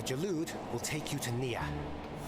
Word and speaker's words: Neyyah: Whereas before we we both have been told it's pronounced like near.